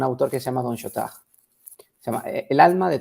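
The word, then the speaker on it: Chautard: de todo apostolado de Don Shot shurt se escribe pero se pronuncia Shot vale ese autor Don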